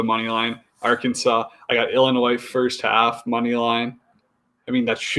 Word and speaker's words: Illinois: It's not Illinois, it's Illinois. The S is silent.